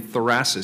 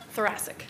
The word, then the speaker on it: thoracic: Erica Moses on the pulmonary and critical care medicine and president-elect of the Oregon thoracis Society thoracic thoracic thank you sorry I mispronounced that thank you for this